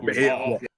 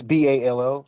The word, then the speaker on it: Baal: Two A's make it a long A sound, so it's ball.